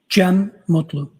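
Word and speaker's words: Cem Mutlu: It's uh C E M U T L U. I also spell it uh with a G. GM. And could you tell us your name, sir? Jim Mutlu.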